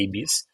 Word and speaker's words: Ibis: Então, acho que o mais conhecido de todos que é o IBS ou Ibis, a pronúncia acho que correta francesa, né? uma rede rede francesa é Ibis, mas são 139 138